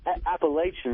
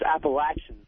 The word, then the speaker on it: Appalachian: Yeah, I want to talk to Patrice about him cracking on Appalachian State. And it's not Appalachian, it's Appalachian.